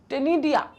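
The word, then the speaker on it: ctenidia: Respiration usually takes place by gills called the टेनिडिया, ठीक है। अब इसके प्रोनाउंसिएशन में सब अलग अलग तरीके से प्रोनाउंसिएट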